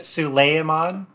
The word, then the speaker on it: Suleiman: It's Suleiman. You pronounce the E and the I.